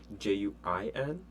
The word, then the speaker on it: juin: are going to forget, because it's really, the pronunciation is just weird. J-U-I-N, juin.